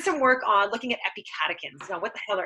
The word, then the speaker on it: epicatechin: If you break it up into 3 words, epic 8 chins is how it's spelled.